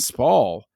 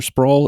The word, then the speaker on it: Spall: Am I saying Spall or Sprawl? Am I saying it right? I think it's Spall, Spall. So I say Spall.